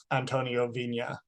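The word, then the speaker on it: Antonio Viña: pronouncing names wrong right but this one I I do believe Antonio Vina is the correct pronunciation I don't I can't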